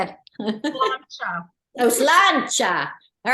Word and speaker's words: Sláinte: Sláinte. Oh, sláinte. All right, I'm going to go pour some to celebrate. Gaelic is not pronounced in any way the way it looks.